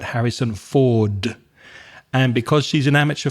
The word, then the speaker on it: Harrison Ford: a famous movie star, Harrison for. So again, she forgets that final consonant sound, the duh at the end. So not Harrison Ford, but Harrison Ford.